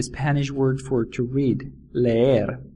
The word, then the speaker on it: leer: book to read in Spanish is leer it is spelled l e e r and it is pronounced leer imagine you're walking